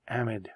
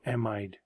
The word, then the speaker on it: amide: phosphodiester linkage, but through an amide or amide linkage, depends how you want to pronounce it.